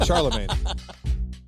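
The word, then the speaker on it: Chalamet: Charlemagne.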